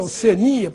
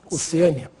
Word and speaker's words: Oceania: Oceânia, Oceania. Né? A forma mais usada, sem dúvida nenhuma, é Oceania para o continente. Portanto, sem acento. Embora alguns falem Oceânia. Deve ser por causa de oceano.